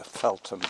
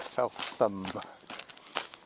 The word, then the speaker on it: Feltham: This is the Felum Trail. F E L T H A M. The felum pronounced felum. It's a bit like Anthony and Anthony. It's the sometimes silent h.